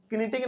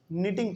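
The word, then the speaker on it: knitting: में आरही है बात इसमें के जो है ना साइलेंट रहता है इसको हमलोग किटिंग नहीं बल्कि टिंग पढ़ते हैं ठीक है इसमें बहुत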